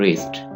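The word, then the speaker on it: wrist: रिस्ट, यहाँ पे W आपने साइलेंट रखना है और ये कहलाता है रिस्ट, कलाई, रिस्ट।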